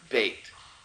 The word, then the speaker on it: bet: Now, when you put the dot or the dagesh in it, then it's the b sound, bait, bait.